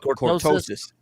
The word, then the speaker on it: cortosis: sort of ore called cortosis is that how you say it Derek yep yep cortosis and and apparently if